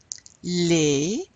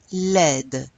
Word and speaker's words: laid: Les, we don't pronounce the D. It's not one of the consonants we pronounce at the end of the word. But when we add an E, we do pronounce it.